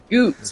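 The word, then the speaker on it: Goetz: This is where we're supposed to meet Goots, isn't it? Goose. That's his name. It rhymes with goose.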